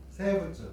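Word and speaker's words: 生物: 일본 사람들 세부츠 그렇죠? 생물 봐봐 미음은 있잖아. 미음 아니면 거의 비읍으로 발음하고 여기 리을은 쯔로 발음하잖아. 그지?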